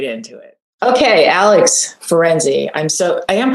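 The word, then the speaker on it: Alex Ferenczi: village so let's get right into it okay alex ferenzi i'm so i am pronouncing your name correctly i hope yeah perfectly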